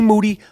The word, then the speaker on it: Moody: up next with moody last name rhymes with duty and special guest Scot